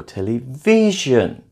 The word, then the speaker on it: television: Television is stressed on the third syllable. Television.